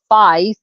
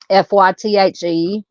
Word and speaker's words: Faith: She goes by her middle name Faith, which she pronounces Fythe, Fythe, and she has been known to dye her hair different colors.